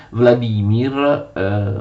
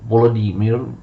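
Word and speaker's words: Володимир: La Volinia aveva per capitale Vladimir o Volodemir, secondo la pronuncia ucraina, che veniva chiamata anche Vladimir Volinsky o Volodemir Volinsky.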